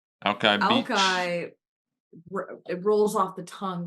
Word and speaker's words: Alki: like pronounced alkali. No, it's not alkali. No. That's a battery. Alki Beach. Alki, it rolls off the tongue more than New York Alki.